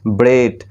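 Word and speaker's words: bread: যেমন দেখো বি আর ই এ ডি, ব্রেড, ব্রেড, এখানে কিন্তু ব্রিড উচ্চারণ হচ্ছে না, ব্রেড।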